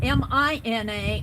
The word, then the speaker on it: Mina: Mina if you're listening her name was Mina m i n a only it's pronounced Mina it's they they put in parentheses